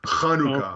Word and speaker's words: Chanukah: It's Chanukah. Okay. So if you can't say I'm Hanukkah, sorry. you just say pronounce it with an H, not a K.